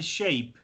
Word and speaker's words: shape: Por eso dice shape. Shape. Porque la E no suena. En ese caso la E no suena, no se pronuncia.